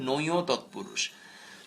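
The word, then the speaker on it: নঞ্‌ তৎপুরুষ: আর বাকি তিনটি হচ্ছে নয় তৎপুরুষ উচ্চারণটি খেয়াল করো এটাকে আমরা নয় বলি অনেকে এটাকে নং বলে অনেকে এটাকে নয় বলে এরকম না উচ্চারণটা খুব স্পষ্ট এবং জেনে রাখো উচ্চারণটা হচ্ছে নয় তৎপুরুষ নয় তৎপুরুষ অলোক তৎপুরুষ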